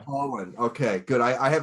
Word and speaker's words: Pohland: of your last name it's like pollen so it's like falling in the air with the d at the end so pollen okay good i i